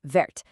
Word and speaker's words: verte: Vert has a silent t at the end, but in the feminine verte, that added e forces you to pronounce the t.